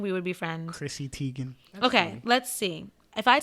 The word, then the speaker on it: Teigen: No, well, actually, her real name's Teigen. It's pronounced Teigen, Chrissy Teigen.